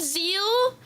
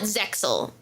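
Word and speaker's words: Zexal: Um, in JP, the show is actually called Zeal. The X is just there for some flavor, right? But I think in localization I guess they got confused by the X so they call it Zeel.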